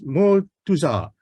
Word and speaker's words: Motuza: Motuza. Now, she told me not to pronounce the R at the back of her name, and that is what I hope I did.